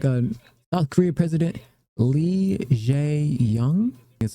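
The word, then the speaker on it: Lee Jae-myung: Quick little meeting and chit chat with looks like a South Korea President Lee Jae-young. That's how you pronounce his name.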